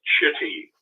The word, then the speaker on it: Chitty: of the other brother it was chitty and the easy way to remember that is it rhymes with shitty yeah exactly thank you